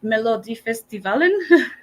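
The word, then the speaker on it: Melodifestivalen: pronouncing it correctly because I know it's Swedish melod festivalin I think that sounds like a great pronunciation Mariel 10 out of 10 okay perfect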